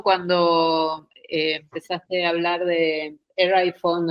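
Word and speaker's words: Erewhon: Estuve buscando y se pronuncia en inglés británico, el nombre es Eraiwom y en inglés americano es Eraiwom. De las dos maneras está bien.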